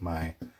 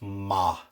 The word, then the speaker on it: mo: And a note on the pronunciation of my. It's another Ulster thing. Up in Ulster, it's my. Everywhere else, it's ma.